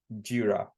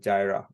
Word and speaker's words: Jira: The last thing I want to also mention is the pronunciation of the word G-I-R-A, Jira, not Jira.